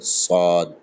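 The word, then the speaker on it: صاد: উচ্চারণ হয়ে যাবে সদ জীবের দুই পাশ থেকে হালকা হাওয়া বের হবে সদ কোনরকম সিটি কাটবে না এটা হবে সদ এই চারটি অক্ষর আমরা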